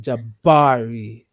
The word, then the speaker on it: Jabari: So it goes says like the j is like j a or in j right? Then you stress the middle syllable like bar like bo like right then and then a soft read and jabari.